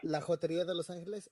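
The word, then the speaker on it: La Jotería de Los Angeles: Again, everyone that's listening, he has La Joteria de Los Angeles. Oh, am I saying it wrong? Yeah. No, you're saying it correct. Yes. La Joteria de Los Angeles at La Joteria de Los Angeles on Instagram.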